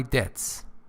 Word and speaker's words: debts: So that I could pay off all my debts. Pay attention, B sound is not pronounced in debts. You don't say debts.